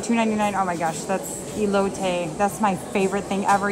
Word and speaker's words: elote: They have the elote. Is it elote? Is that how you pronounce it?